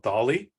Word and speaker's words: DALL-E: It's called DALL-E. I assume it's pronounced like Salvador Dali, the Spanish artist.